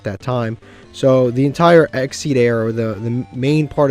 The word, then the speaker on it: Xyz: number one and I used to just say xyz's but then one time I did a deck profile and people were like bro it's it's exed and then somebody expelled it out this is